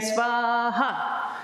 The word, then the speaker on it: Svaha: And the ha is the syllable with the accent, right? Svaha.